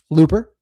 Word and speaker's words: Looper: Looper rhymes with hoopa like Jaws.